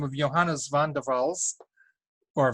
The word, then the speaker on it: van der Waals: the name of Johannes van der waals or van der waals if you prefer to pronounce it that way who studied gases and